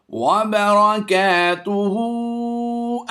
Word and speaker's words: وبرکاتہ: النبی ورحمۃ اللہ وبرکاتہ۔ یہاں پر ہم وقف کرتے ہوئے یہ الٹا پیش کو جزم سے کنورٹ کر کے اس ہا کو تا سے ملا دیں گے، تا ہا پیش تو پڑھیں گے۔ اگر ملا کر بھی پڑھنا چاہیں تو حرج نہیں ہے۔ وبرکاتہ، السلام علینا وعلى